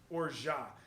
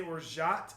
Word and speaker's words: orgeat: So it's French, and there's a T at the end, so it's actually pronounced orgeat. You would say orgeat if the next word started with a consonant. So you would say orgeat and then pull it over.